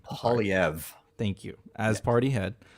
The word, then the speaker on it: Poilievre: Pierre how do you say the last name pauliev thank you as party head I've mispronounced that all week long um the Conservative